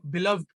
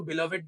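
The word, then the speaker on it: beloved: लेकिन ऐसे लिटरेचर में बिलव्ड बोलते हैं ना? और बहुत सारे लोग इसको बिलवेड भी प्रोनाउंस करते हैं, that is both is all right, लेकिन बिलव्ड बोलना ज़्यादा सही है।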